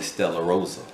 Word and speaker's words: Stella Rosa: I would say Stella Rosa, like Rosa Parks.